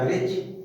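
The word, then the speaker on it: bridge: जैसे ब्रिज, BRIDG, लेकिन बोला गया ब्रिज, डी साइलेंट, ब्रिज माने पुल।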